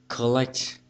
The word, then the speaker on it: collect: Collect, collect, âm rơi bằng tiết thứ hai.